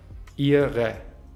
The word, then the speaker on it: ihre: Am Ende haben wir ein e-schwa. Ihre.